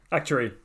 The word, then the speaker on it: actuary: Yep, actuary.